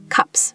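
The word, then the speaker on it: 값: Cups, meaning price. It has ps. Left side, b, cup.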